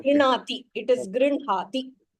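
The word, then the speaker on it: गृह्णाति: Ha should be pronounced. It's not Grinhati. It is Grinhati.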